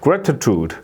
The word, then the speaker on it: gratitude: it gratitude gratitude grude 요것도 이제 마찬가지로 슈어 발음이 이제 되는 거죠 gratitude gratitude 라기보다는 gr 예 이렇게 발음이 되는 거예요이가